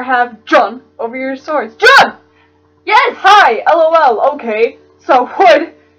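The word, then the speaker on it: Jon: John spelled J-O-N, so I'm gonna pronounce it like John. John.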